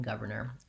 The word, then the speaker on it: governor: word make it difficult also the spelling is a little bit misleading in governor first of all in our letter o actually says the sound ah in the first syllable it's the vowel schwa and in this case it's a stressed schwa where we have the sound is uh and we hold it longer than we would the